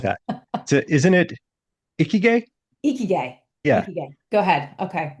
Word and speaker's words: Ikigai: You and I practiced the pronunciation of this Japanese concept. I'm going to try and say it right. Ikigai.